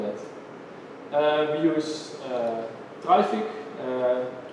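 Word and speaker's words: Traefik: uh we use uh trfic uh it says you pronounce like uh traffic we call it trific because the difference between traffic and trific is easier to understand on traffic and traffic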